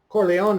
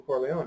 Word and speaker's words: Corleone: when he played Michael Corleone a people like to say Corleone's there's an e at the end you have to pronounce the e to started the program